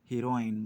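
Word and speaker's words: heroin: आपने, ड्रग्स, ये जो हीरोइन वगैरह है, नॉट हीरोइन, हीरोइन अलग होता है, इट्स हेरोइन, ठीक है। इसका जो प्रोनाउंसिएशन है वो थोड़ा सा लिटिल बिट अलग है, डिफरेंट है।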